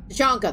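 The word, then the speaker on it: Tuchanka: What's the situation back on T'Chanka? T'Chanka, that's how you pronounce it.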